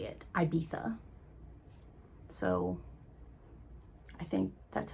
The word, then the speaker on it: Ibiza: most powerful man in, it's spelled Ibiza. In the book, they pronounce it as Ibiza, with a th, or Ibiza. I don't remember. I think it was Ibiza.